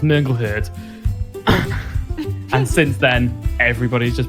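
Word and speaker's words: Mongol Hörde: a band I like called Mongol hord but they've got um outs over all of the O's so the singer quite rightly pointed out the technically the band is pronounced mongle her and since then everybody's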